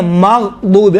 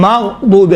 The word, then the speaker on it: مغضوب: تلفظ کرتے وقت غیر المغضوب علیہم، ماغ نہیں ہے، مغضوب علیہم، مغضوب علیہم یہ ہے.